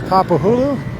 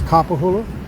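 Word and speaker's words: Kapahulu: So, this is Capahulu. I've often pronounced it I've often often pronounced it capahulu, which is frowned upon, but it's capahulu.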